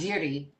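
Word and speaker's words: Jiří: His real name is pronounced Jiri.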